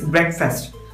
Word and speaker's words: breakfast: First syllable break എന്നും രണ്ടാമത്തെ syllable fest എന്നും എന്നാണ് പ്രൊനൗൺസ് ചെയ്യാറുള്ളത്. So it is breakfast.